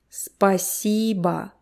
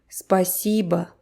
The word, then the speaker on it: спасибо: Make sure you don't forget about the vowel reduction. The last O actually sounds like Спасибо. Спасибо. E is stressed. Спасибо. So the first and last syllable are almost unheard. Спасибо. Спасибо. You kind of swallow them.